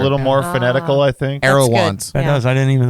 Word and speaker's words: Aerouant: if you look back i think i put it like arrow dash want want that's it's an